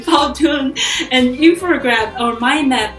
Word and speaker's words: Powtoon: I use Puton and Powtoon. See, I don't even say it correctly. Powtoon and infograph or mind map and storybirds.